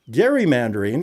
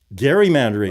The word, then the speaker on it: gerrymandering: your senators, whomever all who is saying it wrong. Gerrymandering. Let them know. not gerrymandering. Just remember that.